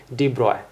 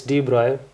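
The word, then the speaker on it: de Broglie: then deep broccoli comes sorry it's written as D broccoli but it's probably pronunciated as Deep Roy okay he's French okay okay so we often make this mistake in our classes so it's deep broil so what he gave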